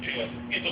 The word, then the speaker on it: Dedi: Dedi or Didi? D-E-D-I? Yeah. Didi, that's where it's pronounced? Yeah.